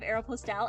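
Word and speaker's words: Aéropostale: How is Aeropostale? Is it... oh, do people say Aeropostal? But it has the E at the end!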